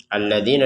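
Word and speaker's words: الذين: Alladzina di sini ada panjang dua harakat. Alladzi dzinya ini dua har dua harakat. A-nya dua harakat. Nunnya dua harakat juga. Kalau ini kasrah diikuti ya sukun. Kemudian di yang alifnya ada harakat berdiri. Kemudian ini ada dommah diikuti wau sukun. alladzina amanu. Jadi antara panjangnya dzi a sama nu ini sama semuanya. Jadi jangan dipanjangkan lebih dari dua harakat.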